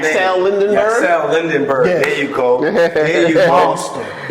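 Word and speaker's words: Yaxel Lendeborg: I don't know how to pronounce his name. Yaxel Lindenberg? Yaxel Lindenberg.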